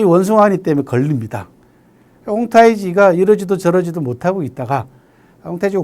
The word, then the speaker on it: 홍타이지: 청나라 건국에 가장 큰 기틀을 놓은 사람이 누구냐 그러면 황태극이라는 사람입니다. 중국 발음으로는 홍타이지라고 하는데요.